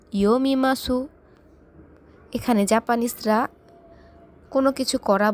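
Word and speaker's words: 読みます: আমি মানে ওয়াতাশি, বই মানে হন, পড়ি মানে ইয়োমিমাসু। তাহলে কি দাঁড়াচ্ছে? ওয়াতাশি ওয়া হন ও ইয়োমিমাসু। এখানে জাপানিজরা কোনো কিছু করা বলতে মাস বোঝায়। এখানে সু উচ্চারণটা হবে না, অত্যন্ত হালকাভাবে হবে।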